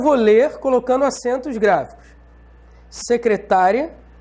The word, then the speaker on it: secretária: Secretária, que é diferente de secretaria.